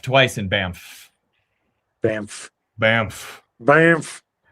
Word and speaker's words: Banff: So, if you guys are in Banff for anything like that, want to stop in the shop, you can always slap my high five.